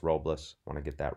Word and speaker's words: Robles: the and here's what ad robbles or roblas I think his name is pronounced robless want to get that